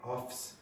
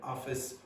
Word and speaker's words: office: So for example, lots of Brazilians will say offs instead of office, or serves instead of service, and things like that. Okay, so you need to be careful about the syllable length in that case.